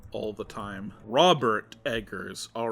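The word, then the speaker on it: Robert Eggers: more although that one's arguably not horror anyways Roger Edgars NOS veratu Roger Edgars Robert Edgars am I saying it right hold on I feel like I get his name wrong all the time Robert Edgars all right let me get that one correct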